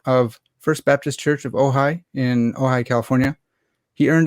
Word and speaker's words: Ojai: Is it Ojai? Is that the right pronunciation? That's always the first question of each podcast. And yes, you got it right. Not everyone does, but you did it.